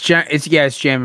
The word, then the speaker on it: Jamin: I think this is wrong, but Jamin Davis. It's Jamin. My buddy's little brother is the same name. All right, good, because that is the best way to pronounce that name.